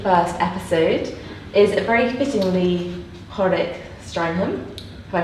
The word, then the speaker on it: Hårek: With me today for the first episode is very fittingly Hårek Stranheim. Have I pronounced that correctly? Oh, it was quite close. Oh, good. Perfect. Hårek would be perfect, but it was good enough.